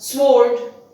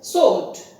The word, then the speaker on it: sword: is - not Tom next one is SW Ord how is it pronounced it is not smart there is no such song in the pronunciation it comes out in the spelling but it is pronounced as salt W the found bar is dropped moving on to the